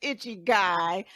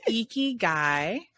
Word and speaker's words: ikigai: I'm going to put I'm going to say it wrong again, because now it's stuck in my head as itchy guy. Icky guy. Our friend Diana calls it icky man, but it's icky guy.